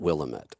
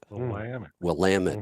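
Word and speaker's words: Willamette: Valley yes but here they will be quick to tell you it's willit not willamet will lamit Valley yeah right I'm sure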